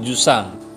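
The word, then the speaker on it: جسام: Lalu jisam itu maknanya apa? Besar. Bukan jisam, bacanya jusam. Jusam.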